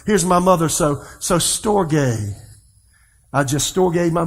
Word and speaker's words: storge: the little asterisk over the e but it's pronounced storge and this is affectionate love or a love